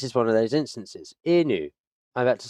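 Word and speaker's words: いぬ: a slight upwards, and in Japanese, it's the tonality, it's the inflection and the cadence of each of these sounds that can determine whether you're saying it correctly or you're saying something completely different from what you mean.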